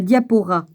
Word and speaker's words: diaspora: au sein de la diaspora, faut prononcer le S, vivant dans le monde des gentils, dans lequel leur position était bien moins influente.